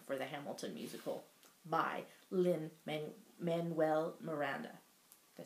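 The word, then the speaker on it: Lin-Manuel Miranda: the the inspiration for the Hamilton musical by Lynn man Manuel Miranda did I say it right yes okay go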